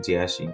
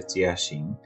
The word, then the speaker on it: Jiaxing: অনেকেই বলে থাকবেন হয়তো জিয়াসিং কিন্তু এর চাইনিজ উচ্চারণ হচ্ছে চিয়াসিং তো এই ইউনিভার্সিটির লোকেশন